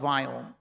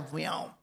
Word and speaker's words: Viome: The we is life, and omics is science, the science of life. And I wanted to call it a Viome.